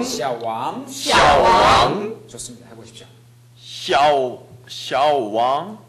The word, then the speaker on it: 小王: 왕 왕 이것이강조돼야돼요왕 왕 샤왕 샤왕 좋습니다해보십시오 샤오 小王小小 전반성만나고왕이이성을이어가겠죠小王小王 다시한번하십시오 小小王 지금小王이렇게했죠지금보시면小는삼성 왕은이성입니다전반성이성이나옵니다그렇죠그래서합치면삼성이되게되어있습니다수업중에들으셨죠그걸살립니다小王아니고小왕이성조가유지되어야합니다다시해보십시오